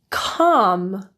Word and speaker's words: calm: L is a bit trickier as there are a few situations it can become silent and it's not completely consistent. LM, LK. Those are the more frequent situations where you'll see the L disappear.